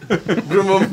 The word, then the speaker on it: Grimwum: Grimwum, the W is silent.